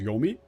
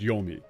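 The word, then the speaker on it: 黄泉: just asking asking like genuinely asking oh she pronounce it as yomi oh it's just yomi yeah it's like why must I be like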